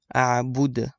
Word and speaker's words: أعبد: أعبد. You have to kind of echo the last letter.